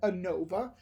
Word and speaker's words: ANOVA: lesson 11 is called ANOVA ANOVA 8 and OVA and you pronounce that ANOVA this is the last